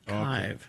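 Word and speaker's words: Kyhv: Uh, it's pronounced kive. Kive. Kive. Derived from a U word for mountain. Kive. That's why they spelled it that way.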